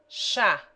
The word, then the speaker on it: chá: CH has the sound of SH in she. Chá.